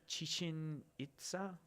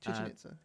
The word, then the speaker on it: Chichen Itza: But after that footage became public, this was at do you know how to pronounce it? Chichen Itza. Yeah, Chichen Itza.